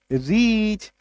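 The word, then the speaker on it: reach: ए सी एच, पीच, आर ए सी एच, रीच, एस P double C H, speech, are आई सी एच, रिच, है ना।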